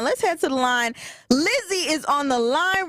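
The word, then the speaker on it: Lizzie: oh it's how do you say your name Lizzy Lizzy l i z z i e yes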